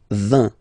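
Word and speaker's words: vingt: And the last one, so this G letter is here, but you don't pronounce it, okay? And then final T doesn't exist phonetically either. So basically, you will only need to pronounce these three letters. So you get V, V, and then you get nasal, I-N, un.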